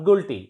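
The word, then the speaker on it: guilty: गिल्टी, नॉट गुल्टी. इट इज गिल्टी. यू is silent here.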